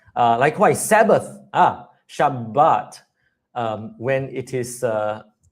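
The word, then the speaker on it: שבת: And so, I very gladly and particularly pronounce the doubling. So, I never say Shabbat. I always say Shabbat.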